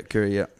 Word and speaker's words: Koori: Yeah, Koori.